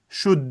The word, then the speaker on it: should: buniki shud boʻladi. Hech qanaqangi shold emas yoki hech qanaqangi shud emas. Shunchaki shudd yaʼni qavfs ichidagi talaffuz toʻgʻri.